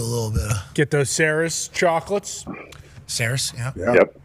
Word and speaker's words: Cerise: Get those Saris chocolates. Saris, yeah. Yep. Cerise. It still blows my mind that's how it's pronounced.